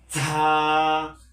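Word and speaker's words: ز: ঝায়ের ক্ষেত্রে একটু উচ্চ সুরে বলতে হবে, যেরকম ঝা ঝা। যেমন র ঝা, র ঝা। এটা এটা হচ্ছে র আর এটা হচ্ছে ঝা ঝা।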